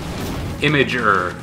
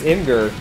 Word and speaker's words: Imgur: nice you know what the official answer is what imager yeah he's wrong it's imgur I don't call it